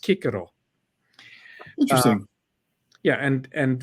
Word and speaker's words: Cicero: sort of a s sound so cisero wasn't pronounced Cicero it was pronounced Kiko interesting yeah and and V VI VII I